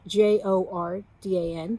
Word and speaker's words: Jordan: it's the story of joseph jordan his name is spelled j-o-r-d-a-n but it's pronounced jordan and that's a helpful